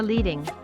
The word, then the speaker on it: leading: leading line spacing or leading which rhymes with heading is the space between